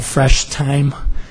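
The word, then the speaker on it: Fresh Thyme: another new grocery concept called Fresh time spelled like the herb time th H yme and I've uh contacted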